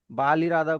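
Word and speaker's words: بالارادہ: बाल इरादा को बिल इरादा पढ़ा जाएगा।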